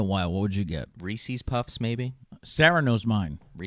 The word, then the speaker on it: Reese's: Some people say Reese's, I've always said Reese.